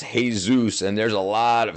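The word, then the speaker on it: Jesús: So, so, uh, in in in Spanish, uh, then it's pronounced Jesus, and there's a lot of Jesuses here in America and Mexico.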